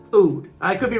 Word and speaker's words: Aoud: I've heard some people pronounce it Aoud Lemon Mint because they spell it with an A. It's spelled A-O-U-D, but I believe it is still pronounced Oud.